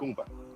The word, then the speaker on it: Jacumba: I went to Hakumba. Okumba. That's how you say it. Hakumba.